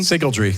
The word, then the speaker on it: Sygaldry: I think this is the moment to talk about your current company, Sygaldry. Am I pronouncing that correctly? Sygaldry, that's right.